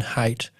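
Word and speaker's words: Haidt: by a guy called Jonathan Hate and that is spelled H AI DT.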